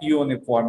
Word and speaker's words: uniform: que não é an uniform aqui, hein? Por quê? U é uma vogal com som de Y. Tem som de U. Esse uniforme aqui, ó. Ele tem o som de Y, né?